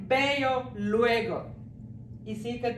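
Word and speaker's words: veo: ഇ ഓ എന്നാണ് എഴുതിയിരിക്കുന്നതെങ്കിലും ആ വി സ്പാനിഷിൽ pronounce ചെയ്യുന്നത് നമ്മുടെ ബോയുടെ ബി ഇല്ലേ ആ ബി ആയിട്ടാണ് ബേയോ എന്നേ പറയുള്ളൂ വേയോ എന്ന് പറയില്ല അപ്പൊ ബേയോ ബേയോ എന്ന് പറയുന്നത്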